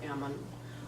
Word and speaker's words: Ammon: Arthur Ammon, or Ammon is the way he pronounced it.